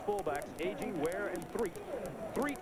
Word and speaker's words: Threet: Threet is spelled T-H-R-E-A-T, and his first name is Demetrius.